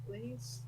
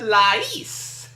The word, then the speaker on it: Lais: Lays? No, not Lay's. I said Lais.